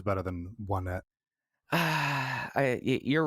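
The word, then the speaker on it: Onett: So you pronounce it One Net. That's interesting. I always pronounced it O-Net. Well, although, of course, the joke is that the towns are named 1, 2, 3, and they all have the number in their name.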